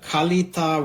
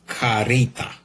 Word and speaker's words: Kalita: Uh in Amazon review, they say Japan import by Kalita in brackets Karita, the way Japanese pronounce.